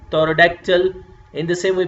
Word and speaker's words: pterodactyl: In the same way, P, T is coming together, so P you are not going to pronounce, you will say pterodactyl.